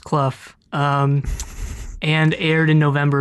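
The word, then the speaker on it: Clough: it's just Cole directed by Chris cluff apparently pronounced kluf um and aired in November of 1987 yes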